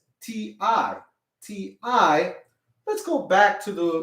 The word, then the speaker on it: ti: think about that everybody if m i is pronounced me if we say it like me right t i would be what if you said t t